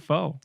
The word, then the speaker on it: pho: PHO. Pho. It's Pho. Yeah, it's like you're saying the F word, but you eject on the CK. Pho. Yes. But I like calling it pho.